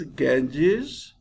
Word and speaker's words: Ganges: Hills North of the river Ganges dear students pronunciation of this word is Ganges and this is very famous river in India